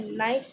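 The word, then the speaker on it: knife: के कॉमन है, बिकॉज नी हो गया, नाइफ हो गया, नॉट हो गया, नाउ हो गया, इसके अंदर के तो कहीं हमें सुनाई नहीं दे रहा।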